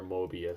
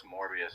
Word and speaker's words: Morbius: jared leto can do a better mobius moby morbius or whatever you pronounce it than he can a joker yeah absolutely oh is it it's morbius now that's right yeah he's he's